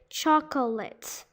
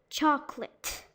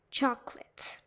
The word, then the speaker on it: chocolate: one in comfortable well people try to pronounce all the syllables but they they kind of say chocolate chocolate but it's supposed to be chocolate chocolate now the sixth one